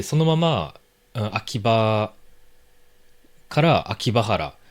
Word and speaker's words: 秋葉原: で秋葉原って書いたら、ま、読みやすいんですよ。